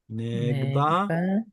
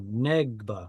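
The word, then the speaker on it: נֶגְבָּה: It's silent because there's a short vowel before it and because there's a weak dagesh in the next letter. So negba. Also, when the syllable is stressed, it's always going to be a closed syllable with a silent shva.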